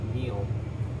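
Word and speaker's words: miel: Meal.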